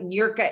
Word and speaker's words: Niurka: my first name, Inc, which is my website, Eureka Inc com forward slash manifest. And you spell that?